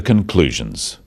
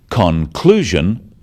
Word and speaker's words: conclusion: The wrong stress makes it hard to understand. So, conclusion, not conclusion. Products, not products.